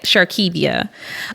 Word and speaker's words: Shirdkevia: what's your idea is sharkevia s-h-i-r-d-k-e-b-i-a the D is silent sharkevia um you can find